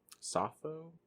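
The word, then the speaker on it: Sappho: of the uh plays and poems of um safo safo safo that's how you say her name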